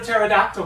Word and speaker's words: pterodactyl: How come you've never heard a pterodactyl go to the bathroom? Because the P is silent.